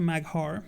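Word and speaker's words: Mag'har: warcraft and warcraft works not a maghar mahar you pronounce it magha but the traditional ones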